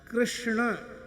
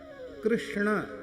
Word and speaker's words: कृष्ण: राम को हिंदी कहा कृष्ण यह शुद्ध उच्चारण प्राय कम लोग करते हैं कृष्ण यह सही उच्चारण पर प्राय इतनी सावधानी से उच्चारण हम लोग भी नहीं कर पाते हैं तो सामान्य लोग